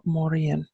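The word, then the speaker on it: Morrígan: hear me pronounce it Morrigan which is the anglicized version or Mauryan which is the Irish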